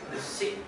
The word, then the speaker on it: Besixxs: kayak di googling, ini lucu nih, besik, B-E-S-I-K, satu, besik, besik, bacanya gimana guys? Besik, oh besik, bacanya, oh gitu.